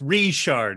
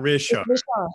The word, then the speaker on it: Richard: yes does it right it's richard not richard no it's it's restart run that by me again what's the shot okay all right because i saw the pronunciation r-e-e and and something easier for people to see it that way yeah richard it's french so my middle name